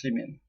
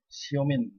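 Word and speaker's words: Semin: Ça se prononce Semen. S-E-M-I-N. Mais en russe, ça se prononce Semen aussi, mais Siomin.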